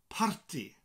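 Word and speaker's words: parti: each other okay so the word is party party yes it sounds like the English word party but you roll the r and you will slight more of a uh a breaking up of these sounds you know the two syllables party in Welsh in English party in Welsh party party and what what you're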